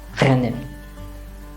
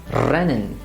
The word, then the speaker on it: rennen: For example, in this word, which is rennen, they will try to pronounce it as rennen.